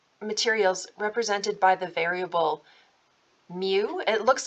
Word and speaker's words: mu: in our um materials represented by the variable mu it looks like a kind of a written or a scripty or a cursive U lowercase U but it is a Greek letter and it's pronounced mu um we're not going to be dealing with